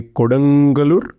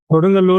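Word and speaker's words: Kodungallur: Koden Galur. Kodangalur also known as Kraor which is the older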